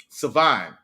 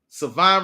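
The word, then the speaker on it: Shavon: Savon, the H is silent. Savon Ravel.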